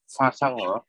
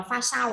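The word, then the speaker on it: 发烧: pha xăng Ừ, pha sao, đọc là pha sao ạ.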